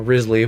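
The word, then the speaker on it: Wriothesley: It's spelled Riothsley, but I don't think that's how you say it. It's like, I don't know, Risley, whatever, the Rizzler.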